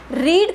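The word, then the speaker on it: read: पड़ा जा रहा है क्योंकि रीड का जो पस्त टेंस होता है डी स्पेलिंग रीमेंस डी से लेकिन इस रीड का जो प्रनंसीएशन होता है वो रेड बन जाता है एंड नौ इफ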